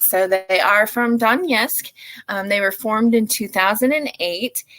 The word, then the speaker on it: Donetsk: And yes, I had to look up how to pronounce that because I did not want to do the infamous Jaime thing and butcher that word. So they are from Donetsk.